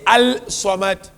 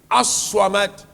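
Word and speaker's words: الصمد: asked him this question but when you pronounce it doesn't show you don't say Al swamat aswamat why Imam said when you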